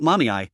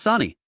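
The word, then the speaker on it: Sunny: It's not Mommy, it's Sani. How can you get both syllables wrong when there are only two?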